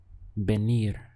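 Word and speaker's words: venir: here with me gracias the verb to come is Ben Ben once again we have a sound that looks like this Ben but it's written with a v in Spanish how would you say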